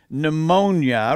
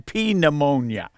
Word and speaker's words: pneumonia: and we pronounce it pneumonia rather than P pneumonia now the English answer to that is the P is silent if it is silent